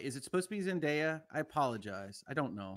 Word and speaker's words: Zendaya: it's Rihanna okay all right uh it is pronounced Zendaya Zendaya okay thank you I will take that correction